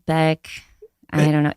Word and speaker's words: Boeck: pronounce my last name it's technically pronounced B like one syllable which is what I always say which I'm relieved by but yeah but it's like boek Beck I don't know it's